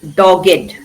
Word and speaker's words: dogged: Though it is spelled ed in the end, it's pronounced id, crooked. Here also, dogged.